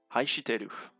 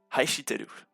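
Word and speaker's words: 愛してる: Donc celui-ci se prononce Haishiteru. Je répète, Haishiteru.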